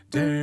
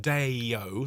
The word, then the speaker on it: Deo: And so here, bar 40, we sing Deo. Okay, so notice it's not Deo, there's no Y in the middle.